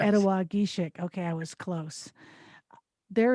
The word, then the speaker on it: Ettawageshik: Ettawageshik. I said it wrong. Ettawageshik. Yes. Ettawageshik.